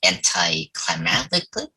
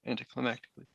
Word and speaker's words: anticlimactically: third film so like anti-climatically or that's how you say it yeah yeah anticlimactically yeah lately we're just